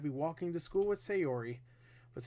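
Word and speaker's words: Sayori: keep forgetting us a her name is say Ori say or it's just the two words say an Ori say Ori right I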